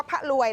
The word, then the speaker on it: พลวย: ชม ดู ค่ะ อ เกาะ พลวย เกาะ พะลวย นะ คะ ออก เสียง ว่า พลวย แล้ว กัน นะ ใน เขต อุทยาน